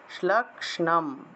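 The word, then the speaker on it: শ্লক্ষ্ণম্: তারপর 104 হলো স তত্র গত্বা यात्रास्ते शैलोद्धे शोभने सा देवी तां ततः प्राह শ্লক্ষ্ণ মূর্ধন্যস্য নিচে ন আছে শ্লক্ষ্ণম এইভাবে উচ্চারণটা হবে, একটু কঠিন।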